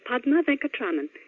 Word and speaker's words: Padma Venkatraman: Hello, my name is Padma Venkatraman.